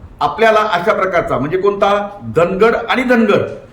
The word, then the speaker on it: धानगड: आपण जर पाहिलं तर धनगर सॉरी धानगड नावाची एक जमात महाराष्ट्र म्हणून इतर स्टेटमध्ये आहे परंतु यादीमध्ये धानगंगड असा डी एच एन जी ए डी धानगड असं स्पेलिंग आहे आणि हे चुकून आणि